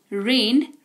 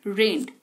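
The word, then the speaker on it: read: पढ़ना रीड रेड रेड यह एकदम अलग है स्पेलिंग तीनों की सेम उच्चारण के वजह से यह डिसाइड होता है कि v2 में है कि v3 में कि v1 में ठीक है रीड रेड रेड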